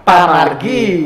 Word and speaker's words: pemargi: Jadi pemargi itu dibacakan pamargi gitu ya.